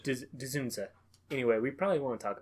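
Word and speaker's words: Dzundza: George Desunda? Hold on. Ginger. Ginger? Yeah, that DZ kind of... Really? It doesn't really fit in Dzunza? any phonics that I've Dzunza? ever learned. Dzunza.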